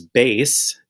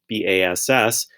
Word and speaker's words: bass: And the first one is bass, B-A-S-S. That's going to be like a guitar or a low instrument. And then the other one is bass, and that's a kind of fish, spelled exactly